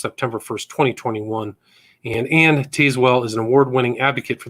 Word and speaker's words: Tazewell: I want to just correct you on the pronunciation of my name. It has a lot of silent E's in it. So it's actually pronounced Anne Tazewell. Sorry about that, Anne Tazewell. It's fine, but it's spelled like Tazewell.